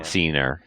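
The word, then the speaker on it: Scenar: It's pronounced Yeah. Cnar.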